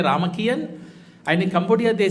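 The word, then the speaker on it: Ramakien: But they pronounce it as a Ramakian.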